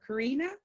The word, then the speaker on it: Kiri: Is that how we say it, or Karina? Am I pronouncing it right? Kiri. Okay, good.